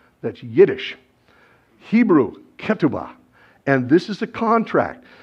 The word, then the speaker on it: ketubah: You may have heard it pronounced ketubah. That's Yiddish. Hebrew, ketubah.